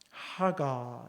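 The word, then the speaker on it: הָגָה: 하가, 이렇게 히브리어로 발음하는데요, 작은 소리로 읊조리다, 중얼거리다, 끙끙대다.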